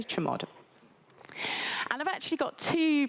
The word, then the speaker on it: chmod: So I pronounce it chmod. I don't know if everybody else says that. I say chmod.